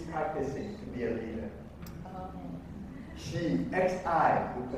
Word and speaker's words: Xi: Xi, X-I, we pronounce, we look at, Xi is his last name.